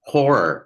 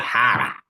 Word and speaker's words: horror: a real horror movie guy but there it's pronounced horror you're a voice artist it's not har Hara har mov come on I gotta go